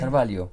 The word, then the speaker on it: Carvalho: Carvalho. Carvalho. The LH, it translates into LIO in okay.